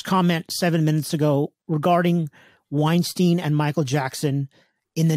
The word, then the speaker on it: Weinstein: the Harvey whites is it whites how'd you pronounce it Weinstein Weinstein the Harvey Weinstein documentary yeah but leaving Neverland